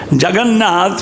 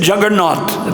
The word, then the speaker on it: Jagannath: Jagannath, when the British saw the Rath Yatra in Puri, they said Juggernaut. They couldn't pronounce Jagannath properly.